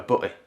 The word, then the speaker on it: butty: Now in Yorkshire, in Leeds I wouldn't necessarily pronounce the T's, so I would probably call it a butty a butty rather than a butty but a...